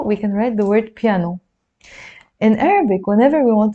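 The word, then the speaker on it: بيانو: B in Arabic okay so it's piano some Arabs pronounce it as biano so we will need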